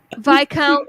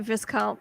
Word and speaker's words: viscount: he wouldn't care um vi count is viscount yeah i know but i pronounce it viscount because that's just i'm a rebel without a cause seriously all right so